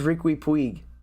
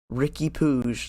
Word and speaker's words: Riqui Puig: Also, why does everybody keep saying Ricky Puig? I swear that's not how you say his name. Ricky Puig. There's no way. The Spanish name, Riqui. It's Riqui. Riqui. Riqui. And his last name's Puig. Puig. Riqui Puig.